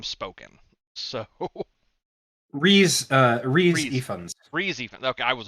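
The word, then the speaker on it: Rhys Ifans: and I know I'm gonna butcher his name, Ifris. How do you pronounce it, Ian? Lizard. I'm actually Dr. Connors. yeah, Dr. Connors. Ifris Rain? Ryan? Uh, I've never actually heard his name spoken. So Reese Reese. Ifans.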